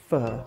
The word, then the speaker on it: pho: I'm going to cook a Vietnamese pho, pronounced pho.